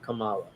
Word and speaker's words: Kamala: mispronounce their name but I'm guessing Kamala is the right way to pronounce it not Kamala it's a hate campaign